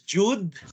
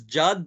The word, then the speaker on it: Jude: so his name is Jude I know you might pronounce it as Judd but his name is Jude Ryan Valiente he's from